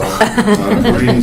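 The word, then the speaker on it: Khari: It's spelled K-H-A-R-I, pronounced Karee like Marie.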